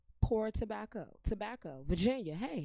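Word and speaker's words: Port Tobacco: And for all my Virginians, do you see P-O-R-T-O-B-A-C-C-O? Poor tobacco. Poor tobacco.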